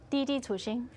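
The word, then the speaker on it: Didi Chuxing: Didi Tuxing.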